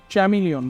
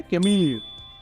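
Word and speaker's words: chameleon: Similarly piece of cake, चैमिलियन, बट ये क्या है? कैमिलियन। गिरगिट को बोलते हैं कैमिलियन।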